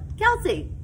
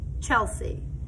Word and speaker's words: Chelsea: Like my name, Chelsea, some people pronounce it Chelsea. Some people call it Kelsey. But I pronounce my name Chelsea and Binder, Mrs.